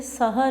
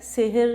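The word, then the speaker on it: سَحَر: وقت۔ تو اس کو تلفظ کو ذرا دیکھ لیجئے گا کہ یہ سحر ہے، سحر یا سحر نہیں ہے۔ اگلے بند میں شاعر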